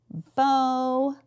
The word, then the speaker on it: bonus: is an open syllable, so our O is going to say its name. So bonus. Bonus.